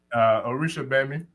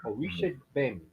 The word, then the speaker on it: Orisha Gbemi: Orisha Gbemi. Orisha Gbemi? Yes, sir. So the G doesn't have a sound? No, I believe it's silent. The G is silent. Okay. Yes, sir. Orisha Gbemi.